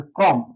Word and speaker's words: ক্রম: নিলীন অবস্থায় অ আছে, ক্রম অ। এই অটা র ফলা থাকার কারণে ও হয়ে যাবে, উচ্চারণ ক্রম, ক্রম।